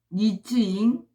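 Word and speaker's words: 黎智英: 리즈잉, 그 다음에 천방 안성, 그 다음에 리즈밍, 그 다음에 허진런. 이거는 중국어 발음이고요. 여지영이 라는 사람이 리즈잉입니다.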